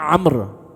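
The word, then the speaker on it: عمرو: अम्र अलग होता है। अम्र के आखिर में वाव आता है। लेकिन यह वाव पढ़ा नहीं जाता। साइलेंट होता है।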